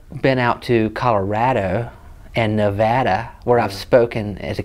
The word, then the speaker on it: Nevada: are like that's not how you pronounce our state why are you being stubborn yeah and so when I went spoken Nevada thank you I had to train myself to say the batterer cuz you know nobody